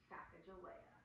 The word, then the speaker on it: Sacagawea: You can break it into syllables. Watch. Sacagawea. Five syllables. Anytime you drop your jaw, it's a new syllable. Plus, it's fun. What is it? Sacagawea.